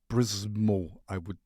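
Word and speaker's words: Przemo: Prismo. Prismo. You know, for me as a German, it's hard to pronounce something when there is no vowel, you know, or vocal.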